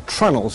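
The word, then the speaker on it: treenail: under the ship was called trinos tree nails and here's one are tunnels is how it's pronounced but they stand for tree nails they're pieces of wood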